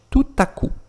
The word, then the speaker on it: tout à coup: Como se fossem duas palavras que eu vou juntar novamente. Tout à coup. P final eu não vou falar, tá?